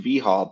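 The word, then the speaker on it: vHOL: Virtual handson Lab um that's pronounced vhul by the way it Rhymes sort of with U-Haul um and this is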